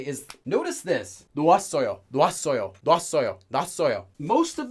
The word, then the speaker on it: 놓았어요: And this is not really pronounced like 놓아, 놨어요, 놨어요, 놨어요. It gets pronounced pretty much almost identically to 놨어요, 놨어. Notice I'm not saying 놓았어, I'm not saying 놨어, I'm saying 놨어.